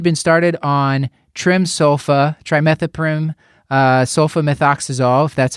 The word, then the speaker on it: trimethoprim sulfamethoxazole: and he had been started on trim sofa trimethoprim sulfamethoxazole that's how you say it three days ago